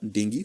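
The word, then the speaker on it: dengue: इसके बाद और एक डिजीज है बेटा, दैट्स कॉल्ड एज डेंगू, या this pronounced as डेंगी and chikungunya.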